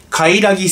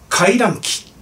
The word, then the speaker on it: カラギ: 動画でですねカラギさんをカラキさんと読み間違えましたすいません